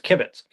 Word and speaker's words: kibitz: I'm really here to to correct your pronunciation. The word is kibitz. Um and I feel like You like I have an accent in the wrong place?